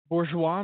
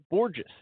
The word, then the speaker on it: Borges: Well, it looks like it's just gorgeous with a B. Borges.